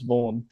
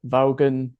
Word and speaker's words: Vaughan: like you said it my surname is vaugh but so many people don't have pronounce it vogan you know they'd say born and I'd be like